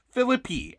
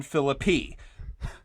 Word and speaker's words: Phillippe: for this episode says Phillippe. Actually, like pee, like you're going to go pee. You're going to Ryan Phillippe.